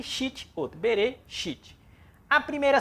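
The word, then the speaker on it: בראשית: Temos aqui novamente a palavra Bereshit. Bereshit. Nós aprendemos que ela só tem duas sílabas.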